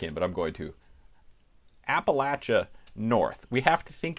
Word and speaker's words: Appalachia: probably heard it and there is some disagreement in different parts of it of whether you pronounce this appalachia or appalachia i grew up pronouncing it appalachia you may very well have done so too if you're from north of the mason-dixon line if you're from south of the mason-dixon line it's more likely you say appalachia and